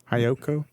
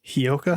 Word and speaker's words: Hyouka: at oh is that that's not even how you pronounce it is it hayaoku no you're cheat sheets doing wonders hiyoka yeah hiyoka hiyoka is gonna be